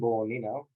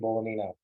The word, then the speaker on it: Bolognino: And that's my handle, Bolognino. The G is silent.